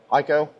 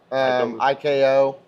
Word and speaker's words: IKO: IEKO, IKO, multiple different ways to say it, but um so this is a hell resistant shingle.